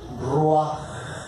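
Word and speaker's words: רוח: espíritu, dicen así, ruaj, como le hace el gatito o el león, ruaj. A ver, digan, ¿cómo se dice? Ruaj. Ya saben, rugir, bueno, ruaj, pero ruaj, fíjense bien, es el aire que nos sale aquí de la garganta del gaznate.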